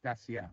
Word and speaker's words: Dacia: So how do you pronounce Dacia or Dacia?